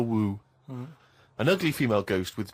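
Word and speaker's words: wewe: I read in the Fortean Times that the word whew means an ugly female ghost with drooping breasts. What do you mean? Is that how am I pronouncing that right? Who's using that word? Who is using that word? It was just W-E-W-E. Let's call it a woo.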